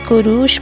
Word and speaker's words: Cyrus: This boy, known as Kurush by all Persian pronunciation, but to us as Cyrus, came into the world at the royal palace of Ecbatana in 1600 BC.